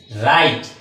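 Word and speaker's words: write: সব কিছু এক্সাম্পল দেখি প্রথমে যেটা লিখেছি সেটা হচ্ছে গিয়ে রাইট ডবলিউ আর আইটিড উচ্চারণ হবে নাড তাহলে কি থাকে আর আই আর আই তো হবে রাইট আর এইটিতে হবে তাহলে কি হবে উচ্চারণটা রাইট রাইট শব্দের অর্থ কি লেখা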